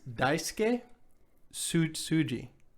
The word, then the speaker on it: Daisuke Tsuji: his name okay let me hear it it's daisuke tsuji okay that's that's how you pronounce it sure that sounds good to me